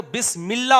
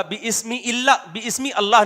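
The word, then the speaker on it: بسم الله: है अल्लाह है ना जब लफ्ज अल्लाह शुरू से पढ़ेंगे तो अल्लाह लेकिन जब लफ अल्लाह कलाम के बीच में आएगा तो बिस्मिल्ला होगा बमी इलामी अल्लाह नहीं होगा अब कोई कहे फला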